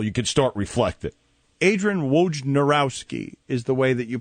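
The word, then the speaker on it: Wojnarowski: Adrien Wj Nurowski is the way that you pronounce it.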